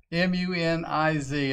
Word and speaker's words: Muniz: that read the name m-u-n-i-z it's got a shine on it m-u-n-i-z uh m-u-n-i-z nice Frankie Muniz I believe is how you say it is he Malcolm in